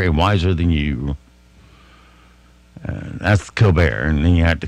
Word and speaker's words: Colbert: Why does Colbert pronounce it Colbert? Because it wasn't snooty enough the way it was born. It's Colbert.